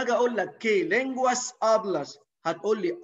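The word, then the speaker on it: hablas: سايلنت الاتش نو سوبرونونسيا حرف الاتش ده مش بيتنطق طيب امي تعرفي تقولي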